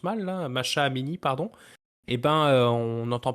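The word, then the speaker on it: Mahsa Amini: L'Iran, après avoir eu quelques complications avec les fameuses révoltes, protestations de Ashraf Amini, là, pardon si je le prononce mal, là, Masha Amini, pardon, eh ben, on n'entend plus vraiment parler, hein.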